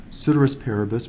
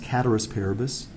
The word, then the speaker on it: ceteris paribus: It looks like it's ceteris paribus, but it's actually pronounced cateris paribus.